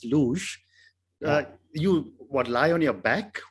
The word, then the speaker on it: luge: So I was getting the pronunciation wrong. It's luge.